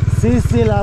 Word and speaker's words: Sir Sir La: और सिरसिला अभी प्रोनाउंसिएशन उनका होता है सिरसिला बोलते हैं लोग, लोकल लद्दाखी जो पर्सन है ना उसको सिरसिला बोलते हैं, सिरसिला में, ठीक है।